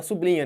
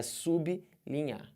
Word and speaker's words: sublinha: sublinha sublinha tá errado todo mundo fala sobrinha né assim o certo é sublinhe sublinhe você tem que fazer isso na pronúncia e na divisão silábica aqui ó dá vontade de botar sublinha da vontade corte essa vontade beleza é sublinha entendido isso porque porque aqui